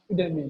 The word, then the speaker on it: Udemy: Is it Udemy or Udemy? Udemy, that's the pronunciation.